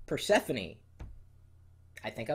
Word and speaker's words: Persephone: Persephone. I think I like that one. Persephone! It is. Persephone. Because see, it looks like Persephone, but it's actually, you pronounce it Persephone.